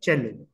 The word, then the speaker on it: cello: hot water bottles but the original word the original musical instrument it's pronounced as cello the next word that